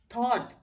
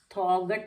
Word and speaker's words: thought: और हम इसको पढ़ेंगे थॉट, थॉगट नहीं पढ़ेंगे, थॉट पढ़ेंगे, क्योंकि